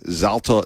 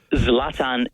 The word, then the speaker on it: Zlatan: Zlatan Ibrahimovic Zla But it's it's it's with an N. It ends with an N. So, how in the world can it be Zalta? Zlatan, not Zalta. Zlatan.